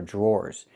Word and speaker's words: drawer: The dr makes a j sound like in juice and jump. Plus the r j. Then we have the or sound like more and door. Drawer. Drawer.